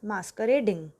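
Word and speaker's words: masquerade: The next word is मास्करेडिंग, which is a noun and is pronounced as मास्करेड।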